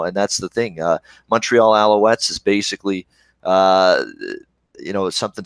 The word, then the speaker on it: Alouettes: pronounced Alouettes or s you said Alec west you put a cue in it that was pretty funny actually yeah that's Alouettes yeah what is in